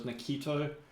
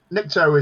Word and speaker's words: Nikto: And then another one I used was Nikto. Nikto. I think I'm pronouncing it right.